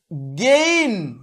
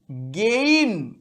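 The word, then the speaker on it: gain: যেমন জি এ আই এন এর উচ্চারণ হবে গেইন, গেইন। তাহলে আমরা বলার সময় এতটা টেনে বলবো না, গেইন নয়, গেইন।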